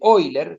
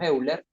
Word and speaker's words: Euler: cómo lo presenta es el famoso método de hoy leer si uno lo pronuncia como los alemanes y si no así lo que así realizamos decimos euler directamente y que se expresa